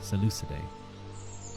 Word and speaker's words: Seleucidae: I actually never know how to pronounce that word. Seleucid. Pronunciation. Seleucidae. That's it. Seleucidae.